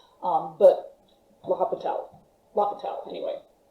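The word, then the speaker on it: L'Hôpital: but we'll have a towel locked out anyway you don't pronounce the h um ignore that okay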